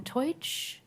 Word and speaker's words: Teutsch: And our last 2, Justin Teutsch and Kevin Flanagan.